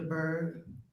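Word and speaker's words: Byrd: Will you tell us your name and spell it for the court reporter, please? Bird.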